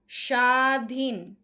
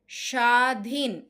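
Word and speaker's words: স্বাধীন: তারপরে দেখো শশুর শশুর সাধীন সাধীন। এখানে কিন্তু ব এর উচ্চারণটা হচ্ছে না। কারণ শব্দের আদিতে ব ফলার উচ্চারণ হবে না।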